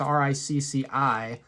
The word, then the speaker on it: Ricci: And John Ricci or Ricky or Richie, however he pronounces his name, on guitar, amazing tone, great riffs, great solos. It might be Ricci, it's Ricci. That's how you spell his last name.